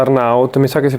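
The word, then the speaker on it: Arnaut: A me piace tantissimo, non mi ricordo se si pronuncia Arnout. Mi sa che si pronuncia Arnout.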